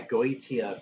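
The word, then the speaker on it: Goetia: So and yeah, Go ET AF, that's how you pronounce it, is another really good Mystifier record.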